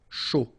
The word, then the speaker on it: chaud: Un chocolat chaud, remember CH, chaud, chocolat, and then final T not pronounced, chaud, final D not pronounced.